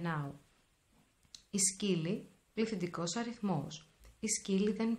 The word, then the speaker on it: σκύλοι: Οι σκύλοι, πληθυντικός αριθμός. Οι σκύλοι δεν παίζουν. As you can see, when I have a plural form, in the masculine words, I always apply omicron iota as the sound e.